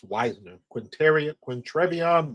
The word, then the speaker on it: Wisner: wow Wisner they said his last name is pronounced Wisner Quint Quint Tron Wisner good Lord what's up Daniel Barry what's up